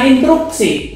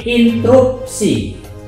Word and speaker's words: interupsi: Bukan instruksi, tapi interupsi. Jangan salah dalam pengucapannya.